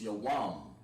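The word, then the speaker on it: יום: And the way you say day in Hebrew is Yawam. So you write that down, Yawam. Yawam, like Kal Yawam, like all day.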